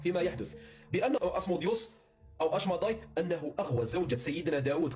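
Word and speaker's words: אשמדאי: أما في اللغة العبرية فينطق اسمه أشماداي.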